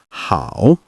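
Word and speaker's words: 好: Then we have how meaning good. Notice the slight dip in your tone.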